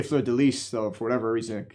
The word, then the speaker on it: fleur de lis: It seems eventually they added the fleur de lis, which, if I recall correctly, the French actually pronounce the S at the end of that. Fleur de lis. They say fleur de lis.